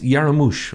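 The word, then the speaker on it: Jarmusch: names yeah keeps giving I had a better pronunciation names its jay-ar MUSC hey it's Yara moosh right Yara moosh like yeah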